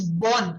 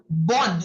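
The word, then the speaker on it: bonne: So that is pronounced as born.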